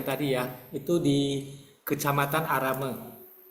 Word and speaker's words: Aramo: ya itu di kecamatan arame eh bacanya arame Ya tulisannya aramo nah waktu itu kita